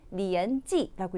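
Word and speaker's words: 年纪: 그래서 나이는 리엔지라고 읽히고 학년은 리엔지 하고 읽힌다.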